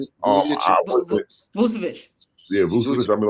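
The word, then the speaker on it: Vučević: Check out his name pronounce his name. Vucevic.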